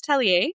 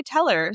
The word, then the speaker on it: Tellier: Yeah, it's Tellier and most people say Teller, so actually even your second pronunciation was better than what most people do.